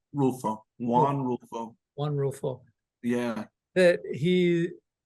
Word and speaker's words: Rulfo: Rulfo, Rulfo, Juan Rulfo.